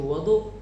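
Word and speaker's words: وَضُوء: Dan apabila kita bacanya dengan fathah pada wau yaitu wadu, maka dia bermakna sebuah barang yang digunakan untuk berwudu seperti bejana dan sebagainya.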